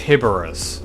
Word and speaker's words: Heboris: Yes, his name is derived from Heboris. And yes, I only recently realized it's usually pronounced "heb-ur-ris".